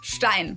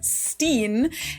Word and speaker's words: Stein: There always seems to be a lot of confusion about whether it's pronounced Stein or Steen. And while everyone gets to decide for themselves how they want their last name pronounced, of course, in German, it would always be Stein, or, well, Stein if it's in English, but EI is pronounced I.